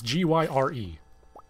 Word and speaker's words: Gyre: the new warframe uh her name is gyre or it's g-y-r-e there's there's debate on the pronunciation i'm going with gyre because gyroscope oh still you know we're